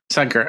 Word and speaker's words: Shankar: Is that how you pronounce it, Shankar? Yeah, Shankar.